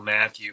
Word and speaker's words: Mathieu: then my website is my name Matthew but the last name is spelled the French way m-a-t-h-i-e-u and I'll I'll give